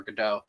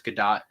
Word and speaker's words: Gadot: I always don't know how to pronounce the last name because even a lot of movie reviewers don't know if it's Gadot or Godot. I'm pretty sure it's Gadot.